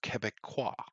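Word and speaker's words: Québécois: saying to me that it's pronounced Quebecois, and then I Um, say, "Fuck off, Frenchie." For me, in order for me to care enough, Quebecois.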